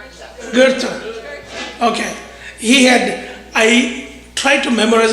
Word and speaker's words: Goethe: I can never pronounce this guy's name. Is it Goethe? Goethe. Goethe.